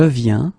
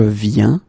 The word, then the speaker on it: viens: Okay, and phonetically it's it's the same form. So you get je viens, okay, tu viens, il vient, elle vient.